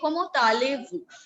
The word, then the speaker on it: comment allez-vous: When you ask it formally to somebody older to you, you say comment allez-vous?